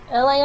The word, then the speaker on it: Elay: My name is Elay, pronounced like Elay like the city.